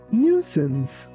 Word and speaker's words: nuisance: Be careful that letter C sounds like S, not C.